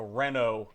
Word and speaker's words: Renault: so basically what happened was in 2008 we had the Renault F1 team, which is a French Everybody knows team. them. It's spelled with a T at the end, but you don't pronounce it.